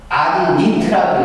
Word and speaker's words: subordinate: You are my subordinate라고 읽어야겠죠. 형용사나 명사는 it 또는 ought로 읽기 때문에 우리가 이제 subordinate는 이렇게